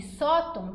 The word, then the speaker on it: sóton: Médium e sóton, tanto mé quanto só, são mais fortes.